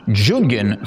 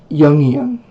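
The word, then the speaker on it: Jungian: traditions from toism to jungen psychologically. I'm sorry if I'm pronouncing that word wrong. That one's new to me. Yian is how it's pronounced.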